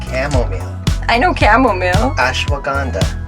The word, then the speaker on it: Ashwagandha: How do you pronounce those words? The calming blend of L-theanine. L-theanine. Chamomile. I know chamomile. Ashwagandha. Ashwagandha.